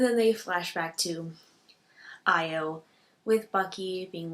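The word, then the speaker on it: Ayo: So Io, or Ao, Bucky calls her Io, so I'm assuming her name is pronounced Io, reads back his words,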